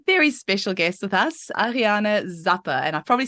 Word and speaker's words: Ariane Zappe: we have a very special guest with us Ariana Zappa and I've probably said your name wrong now so you'll have to say it